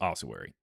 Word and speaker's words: ossuary: And also it's pronounced ossuary.